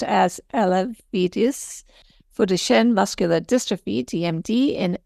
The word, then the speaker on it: Elevidys: distene Moxy Parov r o KL more easily pronounced as alidis foren muscular distrophy DMD in ambulatory individuals aged